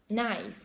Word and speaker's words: knife: a k which pronounced knife we don't pronounce the K and for some students